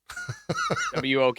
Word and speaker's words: wok: WOK, like walk, WOK, WOK, okay.